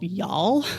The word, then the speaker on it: Youghal: And actually, my favorite T-shirt I saw in town during race weekend said, "Y'all come back now," spelled like the town Youghal, right.